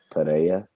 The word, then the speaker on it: Pereira: Just Eddie pronounce it Pereira. Playa, yeah. How do you pronounce it? Exactly like you said it. Yeah. I just want to hear Trey say it. Wow. He's a great Trey. Alex Pereira.